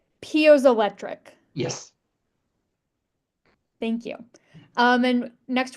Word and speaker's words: piezoelectric: Well, I have a first question, and it's I'm less familiar with some of these energy projects, so make sure I'm pronouncing this right. Piezoelectric.